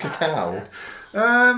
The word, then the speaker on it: cacao: Yeah, the A is not silent. It's pronounced cacao.